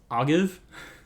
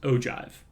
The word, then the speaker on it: ogive: ideas how that's pronounced the most common answer that i see or that i hear i guess is ogive like olive but with a g instead of an l but this is actually pronounced ogive so we've got from